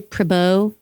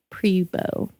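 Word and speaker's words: Pribeaux: Okay, let's not say Pau. It's Po.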